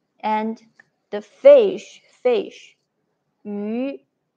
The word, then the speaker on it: 鱼: 好, first we pronounce 一, 一, and round your lips like a fish mouth. 鱼, 鱼, 鱼, 一, 一, 鱼, 鱼.